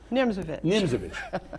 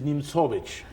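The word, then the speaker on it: Nimzowitsch: A lot of English speaking chess players refer to the player as Nimzovich. But the correct pronunciation of this player, who was born in Latvia, settled in Denmark, is Nimzovich.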